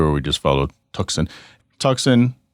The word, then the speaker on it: Tuxon: Tucson, spelled Tuxon, is on purpose, because when you try to say the word Tucson, that's exactly how it's phonetically, it looks like Tucson.